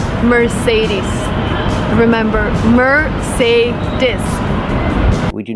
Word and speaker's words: Mercedes: we say Mercedes Mercedes the final sound is not s like Star it's Z like zebra Mercedes Mercedes put the stress on the second syllable Mercedes remember it's not Mercedes it's Mercedes 's a long e sound at the end ease ease Merc meres